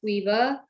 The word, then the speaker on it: Caoimhe: so yeah, it's an Irish name, but the original spelling is Caoimhe, but it's pronounced Queeva.